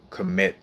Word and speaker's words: cometa: And then in Latin, it's called cometa. So CO, like basically spelled like comet, but with an A at the end.